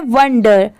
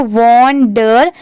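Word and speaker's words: wonder: ठीक है, यहाँ पर बेसिकली इसका प्रोनाउंसिएशन है वंडर, वंडर। जैसे जो पूरा लिखा है तो इसको वॉन्डर ऐसे नहीं पढ़ते, इसको वंडर पढ़ेंगे।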